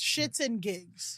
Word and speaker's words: SxtsnGigs: It's spelled SxtsnGigs, but it's Shits and Gigs.